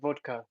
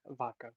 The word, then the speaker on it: vodka: Also, it's pronounced vodka, not vodka. Vod.